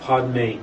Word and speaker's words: Padme: we usually do, but the Padme is just pronounced Padme, as opposed to Om and then Ma.